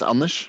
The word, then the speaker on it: Anders: My name is Anders.